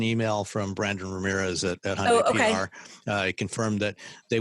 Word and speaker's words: Hyundai: a familiar brand in Hyundai. Everyone already knows Hyundai. They don't always know how to pronounce it. It's like Sunday, but they know that